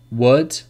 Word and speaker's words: would: Calm, half, talk, walk, would, should, could, calf, salmon. So these are examples when the L is not pronounced. But remember, the rule is not pronounced after the vowels A, O, or U.